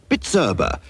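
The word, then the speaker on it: Bizerba: and price labeling Machinery is bitera B erba pronounced bitera so now you can pronounce it give your business the bitera Boost today our German trained Engineers will also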